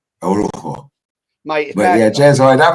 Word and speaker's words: Orujo: The J is a H. Orujo.